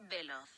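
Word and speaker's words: veloz: Cupra bietet den Formentor eigentlich nur in 2 Ausstattungslinien an, Basic und VZ, wobei VZ für schnell steht, Spanisch schnell Velos oder richtig ausgesprochen Velos.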